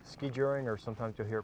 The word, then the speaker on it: skijoring: Tim they call this skijoring I understand right yeah it's a Scandinavian term skijoring or sometimes you hear